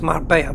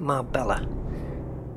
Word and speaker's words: Marbella: Englishman would pronounce it the English people can't even pronounce my obey her properly well I can because I'm um it's just up the road but it isn't Marbella and you don't eat paella the double L is like a wine or a